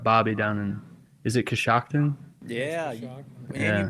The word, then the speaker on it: Coshocton: Is it Coshocton? Yeah. Shock. And Yeah. you pronounced it right.